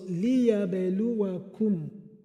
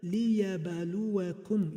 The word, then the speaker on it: لِيَبْلُوَكُمْ: So, liyabeluwakum. Liyabeluwakum. So, liyabaluwakum. You can see the ba is in sukun. It's called qalqala. Qalqala. Whenever ba has sukun, it is pronounced as qalqala.